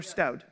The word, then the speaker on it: Staude: Is it Staude or Staude? Staude. I get to actually say it correctly here, unlike in the United States. In the United States, we say it differently, but great to be here.